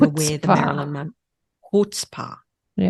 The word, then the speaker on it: chutzpah: Chutzpah. Yeah, apparently no C. No, okay. You don't pronounce the C.